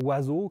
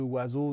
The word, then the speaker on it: oiseau: du Y et surtout aucune de ces lettres n'a sa valeur de base c'est à dire que le haut de oiseau ne se prononce pas oh le I de oiseau pareil le S se prononce le X9 prononce pas